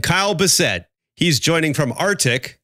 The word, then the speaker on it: Arctiq: thanks Dave and Kyle Bessette he's joining from arctic not the Arctic but Antarctic which is the company which is spelt with a Q so AR c TI